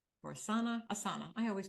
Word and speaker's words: Asana: of think about if you're getting that space ASA or Asana Asana I always call it the wrong name